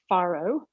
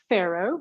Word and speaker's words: farro: tell you today about farro, or farro. Some people pronounce it farro, some people say farro, tomato, tomato.